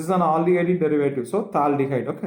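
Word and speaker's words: phthalaldehyde: Now, In common system, it is called as thaldehyde. What is this called? Thaldehyde. This is silent.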